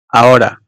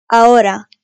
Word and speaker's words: ahora: H harfi ise yalnız başına kullanıldığı zaman, yani C'den sonra gelmediği her durumda hayalet bir harftir, okunmaz. Yani varlığı yokluğu bir harf. Hielo. Ahora. Coherente. Cacahuete. Hielo. Ahora.